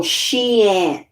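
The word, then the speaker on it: Xi'an: get these parts whoa sheen she spelled x i a n the x is pronounced as a s.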